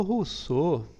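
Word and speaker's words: Rousseau: ano já que russo o russo né se escreve rouseau né o russow ele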